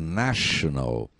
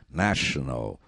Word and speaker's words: national: em inglês tem um t tá vendo a pronúncia National como se fosse um x no lar do do T né National National National Cultura em inglês é Culture o primeiro